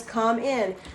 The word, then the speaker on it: cumin: was became popular and it was come in they had it on the bottle c-o-m-e space i n is how you're supposed to pronounce it however people call it cumin now it's probably changed